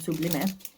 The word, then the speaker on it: sublime: This one is called sublime or sublime. In Spanish, that's how you say it, sublime.